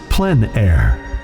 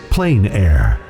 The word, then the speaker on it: plein air: which means open air or outdoors the French pronounces plenn air others say plein air no matter how you say it there is